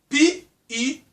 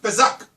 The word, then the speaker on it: Pesach: P-E-S-A-C-H. You can call it Pesach, but it's Pesach, if I want to pronounce it like that.